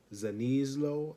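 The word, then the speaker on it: Szaniszlo: i've been messing up so marie s-z-a-n-i-s-z-l-o zanislow i believe that's how you say it excuse me if i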